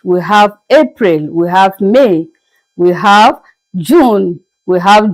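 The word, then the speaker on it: mai: Let's go up and see how we pronounce May. The month that we are in right now that started just yesterday. May as you can see sounds the same as it is being pronounced in English except that the spelling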